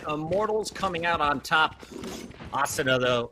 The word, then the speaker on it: Asuna: my kid okay no no no it's asana Puckett because it comes from an anime called sword art online I appreciate that there